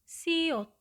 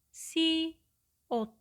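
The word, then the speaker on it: 시옷: Konsonan tunggal ke-7, nama hurufnya adalah siot, siot, siot. Bunyinya atau pelafalannya mendekati huruf alfabet S, sehingga bunyinya adalah se, se, se, se.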